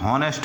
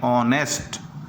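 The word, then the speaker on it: honest: तो सही हो जाएगा क्योंकि इसे हम नेस्ट नहीं पढ़ते इसे हम पढ़ते ऑनेस्ट तो एन ऑनेस्ट मैन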